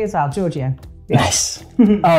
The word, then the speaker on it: Georghiou: City and Inside Man where we met Georgio thank you Hi how are you was it correct it was all correct yes and you pronounced it correctly as well Georgia nice all right thank you for being here